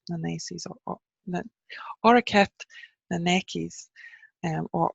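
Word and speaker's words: Auraicept: or or stephannie Macy's I've heard it pronounced both ways and I'm not a hundred percent sure which one and I'm gonna go with the hard C because that is the Irish language and so are kept the Nikes and which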